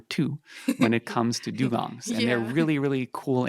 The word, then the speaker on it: dugongs: If people want to go see these dugongs, am I pronouncing that right?